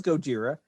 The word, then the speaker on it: Gojira: say it correctly i know well it was gojira and the reason we got godzilla was poor